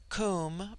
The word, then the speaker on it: Kum: immortal spirit, Vidya, immortality, Kum, pronounced like the Welsh coom, denotes something of hollowness.